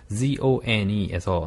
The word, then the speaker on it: zone: 존 하는데 우리가 쉽게 얘기하는 존 그 발음은 J 발음이고 네. 네, J 발음인 거고 Zone에서 나오는 발음은 나영생이 한번 읽어볼까요? Zone. Zone. Zone. 네, O-U 발음이라고 생각하시고 Zone.